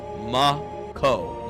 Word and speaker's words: Mako: By the way, if you are in doubt, the pronunciation is mco. Mako.